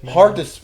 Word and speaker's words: Miano: And the way you responded to that, it Minnow. seemed like you get that a lot, where people don't know how to say it. too many times. Yeah. Too Minnow, way like a little fish. Minnow.